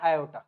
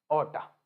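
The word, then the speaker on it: aorta: तरफ लेके जाता है इसको हम बोलते हैं आयो क्या बोलते हैं हम इसको आयो या फिर बहुत सारे लोग इसको ऑटा भी बोलते हैं इसकी स्पेलिंग होती है ये ए ओ आर टी ए ओटा ये क्या है ये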